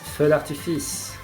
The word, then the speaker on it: Feu d'Artifice: Can you pronounce it, Pat? It's Norway versus Feu d'Artifice.